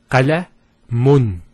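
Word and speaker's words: قَلَمٌ: If we put two dhammas, it will be pronounced as qalamun. Qalamun. So notice the noon sound at the end. It's pronounced as the following. It's the dhamma at the end, followed by, let's take this off, because we're going to put a noon at the end. A noon. With a sukoon. So, qalamun.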